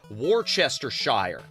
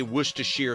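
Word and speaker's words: Worcestershire: I grew up with it being pronounced wrong. My parents, my mother specifically, used to pronounce it. Warchester Shire. So then years later, I I you know, I'm watching a movie and they say Wisher Sauce and it's like, "Oh, hey, guess what? You were saying it wrong."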